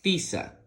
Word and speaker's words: tiza: Vamos a pronunciar de ahora en adelante la Z como una S, ti, sa, tiza.